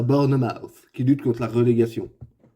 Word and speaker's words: Bournemouth: Sérieux, qu'on ait la bouche vide ou la bouche pleine de gâteaux, ça se dit pareil.